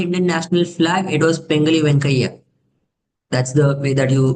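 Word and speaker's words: Pingali Venkaiah: It was Pengali Venkaiah. That's the way that you pronounce the name.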